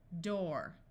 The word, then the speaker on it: door: good w o woof there are a few words where oo has the long o sound however this is not very common D or door F floor P or